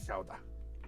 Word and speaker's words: Gouda: He says it's pronounced Gouda, not Lit- Gouda.